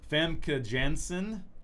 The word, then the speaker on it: Famke Janssen: of all time yep famke janssen it's hard to say that name but that's how you say it versus rogue family Jensen